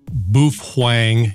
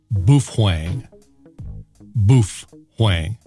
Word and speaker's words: Baofeng: of the buffuang uv-5r and yes buff Hwang is the correct way to pronounce it I know this is a fact because I met a guy on the internet whose parents are Japanese and they confirmed that the correct pronunciation is buff Huang so please for